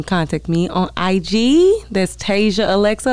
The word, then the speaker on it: Tazia: A lot of people say it wrong. TAZIA ALEXA. It's TAZIA ALEXA. TAZIA ALEXA. It's TAZIA ALEXA. I know, because when I first heard TAZIA, I'm looking up TASIA.